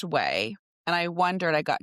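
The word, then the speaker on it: Ouai: So it's pronounced way and I wondered I got confused but it's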